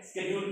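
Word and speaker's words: schedule: हाँ, वही जो शेड्यूल है, ब्रिटिश में शेड्यूल कह दिया, अमेरिकन में स्केड्यूल कह दिया, स्पेलिंग सेम है, मतलब ही सेम है।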